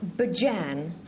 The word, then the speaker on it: Bijan: Well, it's pronounced Bajan, like behold, behead, and behave, Patrick.